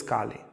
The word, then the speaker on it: Kali: beginning of Kali Yuga now Kali is not the goddess Kali it's a short a Ki is the goddess